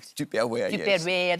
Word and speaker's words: Tupperware: way you sit say Tupperware again for me tuperware you said tuperware tare that's how it should be it would still be going strong if you pronounced it like that I'll tell you but